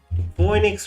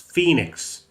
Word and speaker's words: Phoenix: It's because the actual spelling of Phoenix is apparently Phoe, but I always think EO because Phoenix. The O is silent.